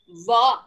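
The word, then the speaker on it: व: That is va. When you pronounce va, the tongue must touch the teeth also, and your lips also must come together.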